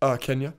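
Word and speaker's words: Xenia: It's spelled with an X, not a K. It's X-E-N-I-A. And Kenya is K-E-N-Y-A. It's a little different.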